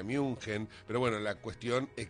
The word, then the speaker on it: München: En esta oportunidad se ha dado en Alemania, en la ciudad de, como se la conoce, Múnich, se la pronuncia München, pero bueno, la cuestión